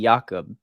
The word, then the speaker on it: Jakub: Well, it's pronounced like it might be Jakob, and so I didn't know if it was pronounced differently. Yeah, well, it is Yakub, but you said it actually. You said it right. That's how you Uh, say it in my language, Czech Republic.